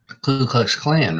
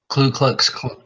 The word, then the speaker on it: Ku Klux Klan: have no idea the kkk how do you pronounce that ku klux klan right ku klux klan yeah and now it's the coup okay you klu klux klan no no l wow noel in the first